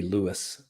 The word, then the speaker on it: Lewis: Yeah, you're saying it right, but a better way would be Lewis.